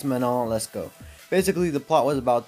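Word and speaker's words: Manon Lescaut: how to pronounce that originally I thought it was my not less cute or something like that but it's mono let's go basically the plot was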